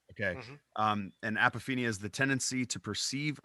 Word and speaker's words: apophenia: You talk about, I believe I'm pronouncing it right, apophenia. Is that Yeah. correct? Okay. Hmm. And apophenia is the tendency to perceive a connection or meaningful pattern between unrelated or random things.